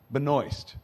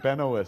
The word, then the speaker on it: Benoist: a lot more uh melissa benoist rhymes with moist uh i learned that